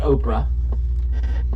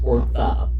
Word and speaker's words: Orpah: Her name is not Oprah, which is what I keep calling her. Her name's Orpah.